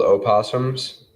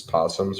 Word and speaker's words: opossums: Do you know they're actually called opossums? Yeah, but you don't pronounce the O. Oh, you do. Oh, in the Midwest? Everywhere you're supposed to. People who call possums are pronouncing it wrong.